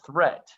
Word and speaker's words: threat: don't call it deed watch out for meat and great and threat they rhyme with sweet and straight and debt moth is not a